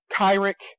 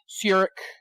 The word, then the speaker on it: Cyric: Please do not mispronounce it. I have heard it pronounced Cyric, Kyrick, Cyric. It is Cyric.